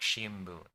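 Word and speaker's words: 新聞: There's shinbun. Shinbun is newspaper, but it's probably pronounced more like shimbun.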